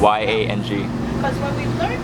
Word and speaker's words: Yang: Y-A-N-G. Yeah? Yang, yeah, like yin yang.